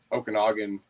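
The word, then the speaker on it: Okanogan: said it right lake lake okaga no um Okanagan uh it's spelled differently it's o a n o g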